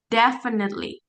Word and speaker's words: definitely: Tadi yang ini bacanya definitely deitely. Coba Rama. Definitely. Definitely. Iya, definitely. F ini kayak F i-nya enggak dibaca.